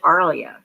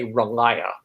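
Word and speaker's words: R'lyeh: And so I called it Arlia. But you call it Railia? Or how did you pronounce it? I mean, like, we're all guessing at this point, I think. But how do you say it? It's, you'd probably have to ask like ST Joshi or somebody like that to really know for sure. But I just say Relaya.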